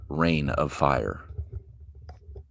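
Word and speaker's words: Reign of Fire: We are watching Rain of Fire. brain, but it's spelled R E I G N I believe it came out in 2003.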